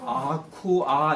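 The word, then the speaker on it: aqua: 아카가 아니라 아쿠아 이렇게 발음해야 돼요.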